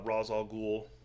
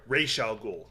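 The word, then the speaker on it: Ra's al Ghul: just turned it over Deadshot Killer Croc uh Rosal ghoul or sorry Ral ghoul I'm gonna say it correctly if I'm gonna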